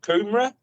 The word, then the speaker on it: Coomera: So I'm in the place called Coomera in Queensland.